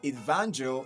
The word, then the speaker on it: evangelism: And if you listen to the word evangel, it's stressed at the second syllable from your left. Van, okay? That's where we have the primary stress. Now you adding the suffix ISM to the end of this word doesn't change the stress position, okay?